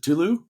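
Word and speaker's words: Tülu: exciting about the um sorry how do I pronounce it Tulu Tulu yeah Tulu Tulu it's like Tulu is a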